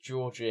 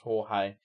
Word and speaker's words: Jorge: There was also another Argentinian dictator that I thought was called Georgie, and it was actually pronounced Jorge.